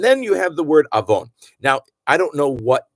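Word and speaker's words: עָוֹן: Avon is very often placed with only one vav, and you just have to know. And being that avon means sin, you can just know it's a real sin to mispronounce that. And it's not, it happens a lot in prayer, that word, and in Torah and in Haftarah. So get it down that you know that avon is avon, and it's a sin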